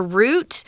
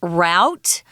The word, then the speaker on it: route: one vocabulary word here root is also pronounced route so be aware of that I know we like to say root in Taiwan but we also say route it's just a way